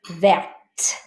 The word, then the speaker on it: verte: You don't say the E, but you say the T. Verte. Vert, verte.